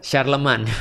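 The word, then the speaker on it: Charlemagne: Charlemne tulisannya. Oh, Charlemne bacanya apa? Iya, Sharleman. Oh, Sharleman. Sharleman yang dia pernah pernah berkorespondensi dengan Umar bin Abdul Aziz.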